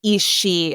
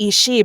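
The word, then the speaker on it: Aos Sí: like race of Fay they're called the is she and the way the way it's spelled is like a o s SI I but then they call themselves The she but it's spelled s i d he e so like visually they look really different but when I say it it's like she's like we always call them the isi but it turns out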